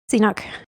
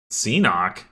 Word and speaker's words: Qsenoch: Enoch. Enoch.